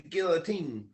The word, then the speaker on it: guillotine: my pillow underneath the guillotine yeah exactly and that word is pronounced Guillotine by the way just so you know Guillotine like it's French for chopping off your head yeah a guillotine um